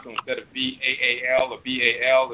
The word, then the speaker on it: Baal: Sometimes they'll spell it B-E-L or B-A-A-L, but it's Baal.